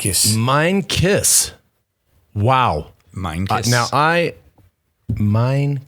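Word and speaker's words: Meintjes: africa love your show the pronunciation is louis meinkiss mind kiss wow minecraft now i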